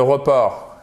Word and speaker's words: report: Accent tonique sur la seconde syllabe.